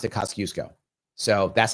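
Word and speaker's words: Kościuszko: So, Kasusco, I believe, is how it's pronounced.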